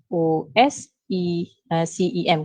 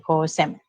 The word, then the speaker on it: COSEM: COSECEM, COSEM. Okay, with a silent C lah maksudnya COSEM.